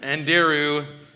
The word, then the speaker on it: Anderu: Anderu. Ook. Okay, I'm going to write that phonetically. And okay, good, great. Just like kangaroo.